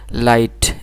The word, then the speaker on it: light: যেমন মনে করেন লাইট LIGHT লাইট, এখানে GHটা আমরা প্রোনাউন্সিয়েশন করি নাই।